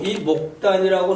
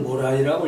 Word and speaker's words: 모란: 자하고 레자가 세인이 세상 사람들이 심에 모란하되 매우 이 목단이라고 썼는데 읽기는 모란이라고 읽어요.